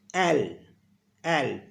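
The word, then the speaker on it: elle: है ना शी को फ्रेंच में बोलते हैं एल एल और इसकी स्पेलिंग होती है अ एल एल अ एल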